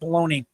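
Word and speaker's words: Meloni: Uh, how do you say your name? Malani. Maloney. It's like Maloney. Maloney. Yeah, there we go.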